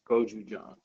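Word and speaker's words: 고추장: Guung, but you pronounce it. Goju John. Goju John.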